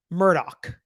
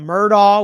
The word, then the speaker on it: Murdaugh: with by the way Alec Murdoch that's what I'm gonna go with okay because I've been given all sorts of different pronunciations from murder which is what I usually say to Alex to Alec